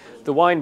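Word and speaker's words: Waen: The first one I'm going to choose is a beer from the wine brewery. Quite confusing, pronounced wine, spelt W-A-E-N.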